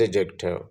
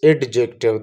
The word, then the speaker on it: adjective: So what is adjective? First of all, I will correct this word. Mostly people pronounced as adjective. The word is not adjective, D is silent, that is adjective.